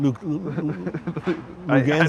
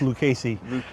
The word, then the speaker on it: Lucchesi: I Lugenza? don't want to say it the wrong way again. Lugenza, whatever his name is. Okay. Lucchesi? Yeah, it's pronounced Lucchesi.